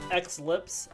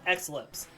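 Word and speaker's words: Xlips: X lips. Okay. I wasn't sure how to uh pronounce it. Some people, you know, obvious play off Eclipse.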